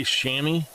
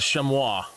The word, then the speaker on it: chamois: that's like with shammies people say shammy it's a chamois it just eats me